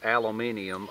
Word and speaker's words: aluminium: But earlier than that, back in the 60s and possibly the 50s, they were made out of aluminum, or as some people pronounce, aluminium, or as I call that shiny silver stuff.